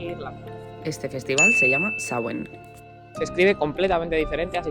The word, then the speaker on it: Samhain: Este festival se llama Samhain. Se escribe completamente diferente, así que te lo dejo por aquí para que sepas cómo es.